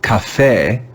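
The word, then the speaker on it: café: sound in this word the letter e will be read with the classical sound because this word cafe comes from spanish cafe cafe do you hear the classical a sound cafe cafe this is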